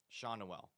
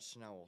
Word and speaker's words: Schnell: Shawnuel. That's how you pronounce it. Not Schnell, Shawnuel.